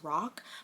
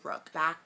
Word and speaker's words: Rook: I keep wanting to say his name is Rock, but his name's Rook.